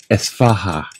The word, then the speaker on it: Isfahan: It's I-S, but it's Isfahan, I think is how you say it.